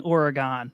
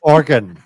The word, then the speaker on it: Oregon: are we saying Oregon wrong? Because Bob and I are saying Oregon. No, it's organ, right? Not yours, you are saying it wrong.